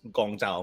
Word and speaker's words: Guangzhou: You have the Cantonese pronunciation, which is Gongzhou, more or less. So how you're saying it now, pretty much on point. The way they write it in the game there, that is Guangzhou.